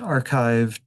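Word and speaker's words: arXiv: Uh this is pronounced archive or bioarchchive or tech archive.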